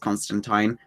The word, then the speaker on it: Constantine: And yes, it is pronounced Constantine. He's from the UK. That's how we pronounce it here.